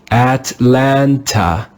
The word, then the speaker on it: Atlanta: The third letter A is in an unstressed syllable. It's not stressed. We'll read that with the sound Let's read this word together.